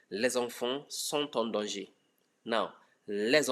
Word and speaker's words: les enfants: So there's going to be a liaison that changes the pronunciation of the S from S to Z.